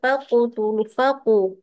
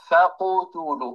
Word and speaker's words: فقتلوا: نأخذ مثال واحد، يعني ما يقول الواحد منا فقتلوا، انظروا إلى فمي، فقتلوا. Bukan faqutulu.